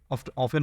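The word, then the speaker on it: often: I visit I অফেন অফেন অথবা অফটেন দুটো উচ্চারণ ঠিক আই অফটেন অথবা আই অফেন অফেন বলাটাই ভালো আই অফেন ভিজিট মাই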